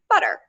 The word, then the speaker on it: butter: d nope butter butter butter you can see you can hear the difference and the last one is how most people pronounce it and that's its own sound it's the flap um and then finally